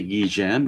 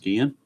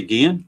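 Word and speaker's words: Ozzie Guillén: Some people call him Ozzie Guillen, but I've always heard it pronounced Guillen. So it is Ozzie Guillen, shortstop.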